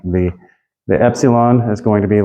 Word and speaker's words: epsilon: me on that one like the I and met like I met you last week at the restaurant that's the light E versus a okay